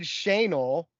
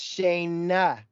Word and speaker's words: Shayna: You would not say her name right, and you had heard Shanel from Darren or somebody, and she kept trying to say, no, it's Shayna, and you're like, Shanel.